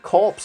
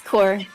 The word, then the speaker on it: Corps: the the extension core is it corpse or core it's core that's how you pronounce that which is a little